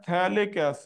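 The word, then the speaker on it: phthalic: दो इसका नाम है थैलिक्स इड स्पेलिंग पर ध्यान देना पीएच पीएच साइलेंट होता है अगर अब प्रॉब्लम कैसे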